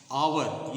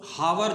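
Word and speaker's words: hour: पर थोड़ विचार करेंगे च जो है साइलेंट है जैसे आवर एच ओ यू आर आवर तो हावर नहीं कहते उसको आवर बोलते हैं तो तब वहां पर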